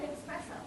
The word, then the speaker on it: espresso: My brain works in numbers and business, not in latte and espresso. Espresso, not X.